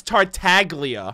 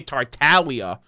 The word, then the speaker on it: Tartaglia: oh so it is tartaglia I've always been um self-conscious about pronouncing it cuz I've heard some people say tartaglia I've heard some people say Talia like the g is silent like lasagna oh it isn't the